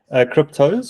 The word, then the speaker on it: Kryptos: Cryptos or cryptos? Cryptos. It's spelled it's KRYPTOS.